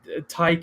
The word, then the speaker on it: Ti: It's not split at Tyke and then Vin. It's TI, but I usually just say Ty like titanium, and then.